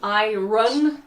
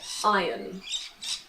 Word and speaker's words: iron: This is an iron. Be careful of the pronunciation. I did an entire video on this. This is an iron. In British English we say iron.